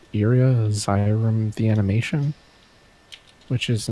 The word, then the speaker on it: Iria: The first thing was I watched this OVA called Iria Zyrum the Animation, which is an old from like the 80s, I think. It's this like sci-fi fantasy. Go Iria IRIA.